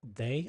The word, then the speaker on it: Dea: So, it could be DEA, but it sounds to me like day is probably the right pronunciation.